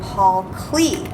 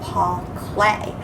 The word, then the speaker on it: Paul Klee: piece of artwork by paul clay last week's lesson i kept saying paul clee and i'm used to reading about a lot of artists and i found out his name is pronounced paul clay so i wanted to